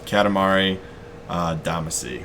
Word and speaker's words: Katamari Damacy: a little bit it's a game series called Katamari Damacy right I pronounced that right yeah you can say come